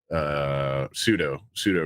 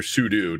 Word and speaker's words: sudo: There's I think the last kind of attack on Linux was for the sudo root, or sudo, depending on how you like to pronounce it.